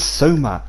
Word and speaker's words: Soma: stop calling him i'm his name is soma say it right so ma so ma please initiate